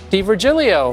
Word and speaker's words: D'Virgilio: my guest is nick d virgilio hello five syllables in your last name correct it's a long